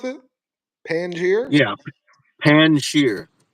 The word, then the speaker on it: Panjshir: It's it's Panjshir. it's it's it's pronounced how it looks, like pan, and then there's a short J and then sheer. Like the J is almost not pronounced, but it's Panjshir.